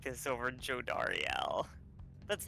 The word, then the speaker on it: Jodariel: How's her name pronounced? Jodariel.